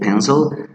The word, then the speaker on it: pencil: It could be like pencil. Really, the vowel doesn't sound.